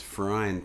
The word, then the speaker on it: Freund: That's one thing I've had over the years, this Freund thing. Rhymes with groined. Freud with an N.